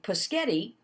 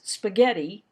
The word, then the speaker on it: spaghetti: say it correctly so i might say for dinner tonight we're going to have pisghetti well i articulated pisghetti correctly clearly but i didn't pronounce spaghetti correctly so one is clear clarity